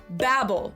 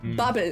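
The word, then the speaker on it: Babbel: Babel or Babel as it's pronounced in the original German because this company was also founded in Berlin, Germany in 2007.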